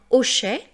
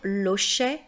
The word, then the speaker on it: hochet: Donc, même si le H est muet, même si le premier son que j'entends, c'est le O, je ne peux pas dire l'hochet, je dois dire le hochet.